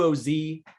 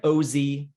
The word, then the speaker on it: OZ: here so a q o z or an o z i like to call it o z some people say oz um i've always been